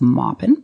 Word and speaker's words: Maupin: Armistead Maupin he's from North Carolina so it's pronounced Maupin or in 1944 he is the author of